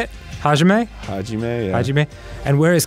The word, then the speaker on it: Hajime: Hajime, yeah.